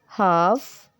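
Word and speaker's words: half: learn बल बल bell L अक्षर एफ के और एम से पहले अपनी आवाज खो देता है जैसे कि काफ कफ हाफ हाफ वक वक टॉक टॉक कम कम कम Fock balm balm balm palm palm palm तो अब बारी आती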